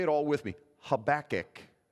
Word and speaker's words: Habakkuk: a lot of people don't know how to spell that let alone say it so say it all with me Habakkuk how about it good okay so he's another